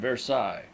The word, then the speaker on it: Versailles: by rail on the road to Versailles pronounced versailes s clue belongs to